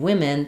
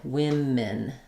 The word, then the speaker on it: women: Women. Um, again, this is going to be um fairly reduced. Women. Women. Um, but it's still going to be an I sound rather than a sound.